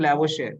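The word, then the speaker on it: Lavoisier: तो this is a French name, that is the reason कि इसे हम ऐसे प्रोनाउंस नहीं करते। दिस इज लैवोशियर, आर नहीं बोलते इसका, ठीक है।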